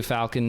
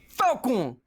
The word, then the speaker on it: Falcon: It's like, Falcon Punch! Like, it's very, like, he doesn't say Falcon. There's no pronunciation on the L. Actually, you're right. It sounds like he's saying Falco Punch.